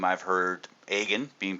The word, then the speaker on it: Agin: I had interactions with introduced me as aun uh mispronounce the name it's aan harg and I've heard all sorts of different iterations of my last name I've heard agen being pronounced correct I've heard aan um I've